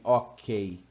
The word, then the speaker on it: OK: Nem ok, é OK, porque o O tem a pronúncia de OU, e isso é uma abreviatura.